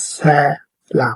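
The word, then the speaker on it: ሰላም: And this one is also in Amharic, but I have written in English for you to pronounce it, okay? It says salam, okay?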